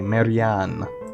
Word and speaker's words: Marianne: Okay, that's how you say her name. Okay, Marianne.